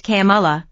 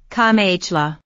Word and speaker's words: Kamala: running mate in 2020 rather than the correct Camala Trump sometimes says KLA Harris who is of Indian